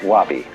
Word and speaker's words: wabi: that goes along with something that rhymes with it wobby so often Japanese people